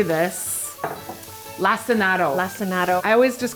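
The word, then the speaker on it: lacinato: We learned in a previous episode how to say this lassinado.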